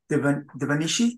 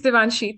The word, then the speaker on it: Devanshi: And Devanishi, did I pronounce correct? It's Devanshi.